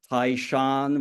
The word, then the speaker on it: Taishan: That's the county which I use the pronunciation in the dialect, but it's otherwise known as Toisan / Taishan, which is one of the principal counties in